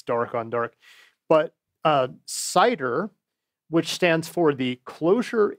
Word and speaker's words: CIDER: dark on dark, but Cider, which stands for the Closure Interactive Environment, that rocks. The T is silent.